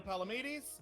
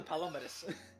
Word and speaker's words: Palamedes: This is Palamedes, or yeah, you can pronounce it any number of ways. He will not correct you. He is Palomedes.